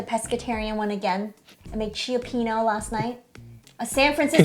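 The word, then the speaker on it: Cioppino: I made Chiapino last night. A San Francisco. Could you say that again? Chiopino? Chiapino? Is that Wow. how you pronounce it? I don't know. I think it's just Chapino.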